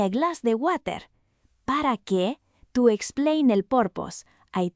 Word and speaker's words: que: In Spanish, that u after la que is silent.